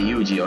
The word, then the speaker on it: Yuuji: I like the way how he pronounced it. Chinese. And Japanese actually. 似たようなもんだろ。お前、名前は Yuuji. Kazami Yuuji. ユージェンイか。まるで女みたいな名前だな。 I say Yuuji, okay?